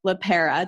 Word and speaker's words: LePera: Nicole LePera. Did I pronounce that correctly?